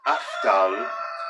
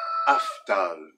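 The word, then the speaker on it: أفضل: And they are afdal, afdal. So we have to be conscious on aftal of how we pronounce that big, thick D, because if we don't pronounce that correctly, they'll make fun of us.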